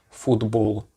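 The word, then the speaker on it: футбол: For example, if you say the word for football, the O, like the O sound there, is pronounced as an U, and it's the same as in Russian.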